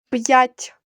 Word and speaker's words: п'ять: апостроф апостроф яка п'ять звук п перед буквою я вимовляємо твердо Отже ставимо апостроф після букви п ть вимовляємо м'яко Отже в кінці ставимо